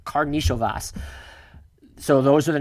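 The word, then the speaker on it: Karnišovas: I tried to look this up phonetically beforehand. It is Karnisovas.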